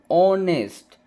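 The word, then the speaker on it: honest: फिर आगे देखेंगे एन ऑनेस्ट यहां पे ओ से पढ़ेंगे। एच से नहीं पढ़े। एच से पढ़ेंगे तो ऑनेस्ट हो जाएगा जो रॉन्ग हो जाएगा।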